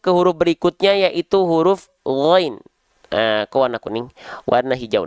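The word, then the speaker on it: غين: menganggap bahwasannya huruf ghain ini dilafalkan persis sebagaimana kita melafalkan huruf G pada abjad alfabet? Ada? Nah, maka itu keliru. Ya, kalau teman-teman melafalkan ghain menjadi huruf G, plak ketip plak huruf G, maka dibacanya nanti begini bacaannya. Faja'alahu gutha, gutha, enggak gutha, bukan G. Ya. Jangan sampai mentang-mentang huruf ghain dilatinkan itu dengan huruf G, oh berarti huruf ghain itu huruf G, beda.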